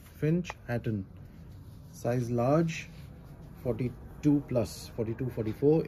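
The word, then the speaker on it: Finch Hatton: इसका pronunciation फिंच हैटन.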